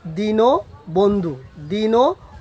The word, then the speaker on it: দীনবন্ধু: অরক্ষিত হয় মানে হচ্ছে অরক্ষিত হয়ে সে অয়ের উচ্চারণ ও এর মতো উচ্চারিত হয়।